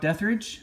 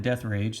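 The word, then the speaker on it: Deatherage: Brock Deathridge. I've seen his cards before. Some people call that Death Rage. That's really obviously not how you say it.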